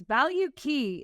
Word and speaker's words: Valkey: like the way that because I kept saying it wrong and was like it's value key like like tagging and